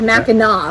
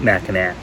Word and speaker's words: Mackinac: is mackinac that's right even though it has a c at the end it's pronounced with a w sound at the end mackinaw like i'm going to gnaw on it not mackinac not mackinac all right